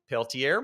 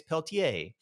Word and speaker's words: Peltier: it's called the the and you can pronounce this depends on where you're from. Here in the United States, we're probably going to call it How would you pronounce that? Peltier, maybe. I I would say uh get up to our Canadian friends are probably going to say it's Peltier.